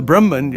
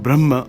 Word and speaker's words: Brahman: they use the word Brahma or Brahman sometimes just pronounced that way but it's really Brahma I don't know why they say Brahman you know but I think in Sanskrit sometimes they put an end with like a half mark at the end um so I don't know much about that but but that's it's pronounced both ways apparently uh you know so